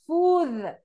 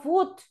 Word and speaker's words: food: And the pronunciation is food, no foot, right? Food, like this, food.